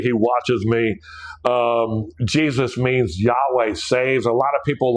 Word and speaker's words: Yahweh: So we have to put the vowels in there. So we don't go and pronounce his name with a breath, and we don't go. We say, Yahweh. And that's where people get Yahweh from.